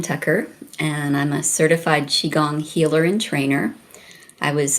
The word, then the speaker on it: qigong: yourself that got you to is it properly pronounced qigong it's qigong it is qigong okay well on alternative health tools we have